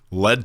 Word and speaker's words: Lead: Lead Talks. Lead Talks? We're starting Lead Talks. Like it rhymes with TED Talks. See that? But it's lead like a bullet.